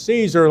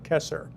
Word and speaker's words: Caesar: we hear it as Caesar like a Caesar salad and the Caesar dog joke I had the other week. But it was actually pronounced with a hard K. That's where we get Kaiser, Kesar.